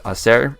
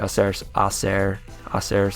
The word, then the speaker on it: hacer: It's kind of similar to hacer, since the H is silent, satisfecho.